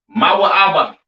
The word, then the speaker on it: Moab: have Moab all right Moab pronounced ma ABA right the children of